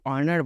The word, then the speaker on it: Honor: উচ্চারণে অনেকেই হনার বলে, কেউ অনার বলে। আমরা হনারও বলি, অনারও বলি। আপনার ইচ্ছা, আপনি যা ইচ্ছা বলতে পারেন।